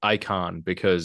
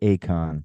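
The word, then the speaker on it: Aikon: I'm assuming they want this to be pronounced icon Yeah, yeah. It's definitely not the Acon.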